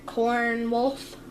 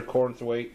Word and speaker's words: Cornthwaite: Cornwolf. Cornwolf? We don't even have no Cornwolf in our town. How do you say his name? Are you talking about Arthur Cornthwaite?